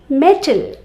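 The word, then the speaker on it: mettle: metal m-e-t-a-l metal gold silver iron metal and metal m-e-t-t-l-e metal that is to prove your ability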